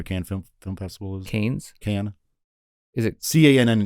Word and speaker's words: Cannes: Cannes. Is it? Cannes. But That's Cannes. The French don't pronounce like the last letters in a lot of things, so I think it's like Con or Can.